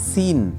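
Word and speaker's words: scene: থাকবে next word আছে সিন এস সি এন ই এখানেও সি সাইলেন্ট এর অর্থ হচ্ছে দৃশ্য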